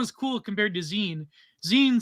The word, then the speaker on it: zine: Why, you can't say zine? How do you say it? It's Zin. I said zine. Oh, I don't know. I say zine like zine, like a magazine, like a zine.